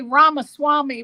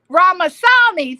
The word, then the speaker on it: Ramasamy: I want to say Ramaswamy, but I know it's not Ramaswamy. That's Vivek. Ramasamy.